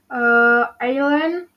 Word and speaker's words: island: S is silent in the words below. For the example, island, isle, Bordeaux.